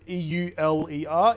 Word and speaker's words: Euler: angles and Euler angles e-u-l-e-r is pronounced Euler fun fact well it's